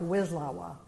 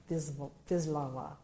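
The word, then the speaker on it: Wisława: a jorka v laa it looks looks like wislawa viwa so I I like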